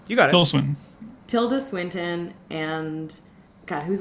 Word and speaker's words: Tilda Swinton: Tilda Swinton.